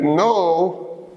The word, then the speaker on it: know: Even baby Yamin knows these phonological facts, that the na is silent, the ta is silent, and the wa is silent.